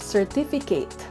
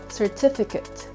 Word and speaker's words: certificate: do you say it it's not certificate it's certificate certificate all right i